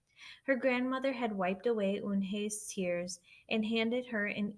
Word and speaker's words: Unhei: Eun-hye, said Eun-hye. Nay, the girl asked, scrunching up her face.